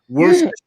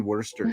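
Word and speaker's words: Worcester: Worster fire sauce. It's actually worester sauce. Worster like like worst worester mass.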